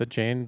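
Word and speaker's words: Achane: He beat our team with a chain leading the way.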